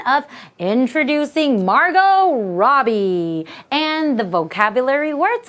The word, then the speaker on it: Margot: Margot! Oh, why is there a T? I don't know, it's just pronounced in a different way. The T is silent. That's right.